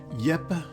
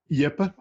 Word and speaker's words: Jeppe: Help me welcome Jeppe Graugaard.